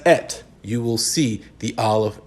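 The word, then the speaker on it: את: They pronounce it as et.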